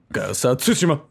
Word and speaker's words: Tsushima: and please stop pronouncing it so incorrectly it's pronounced tsushima um all right now moving on uh the